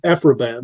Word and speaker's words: Aphra Behn: Alpha Bane in the is that how you pronounce it afroban yeah afroban yeah right who was the first uh published